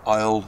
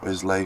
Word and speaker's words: Islay: The Isle of Isle or Islay, whichever you want to pronounce it.